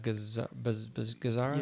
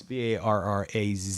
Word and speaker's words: Barraza: Adriana Gazara? Yeah, I can spell it. It's Barraza.